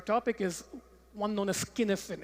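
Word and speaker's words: Cynefin: for understanding our topic is one known as skinnifin it's pronounced skinnifin it's a Scottish word it looks like cinnipin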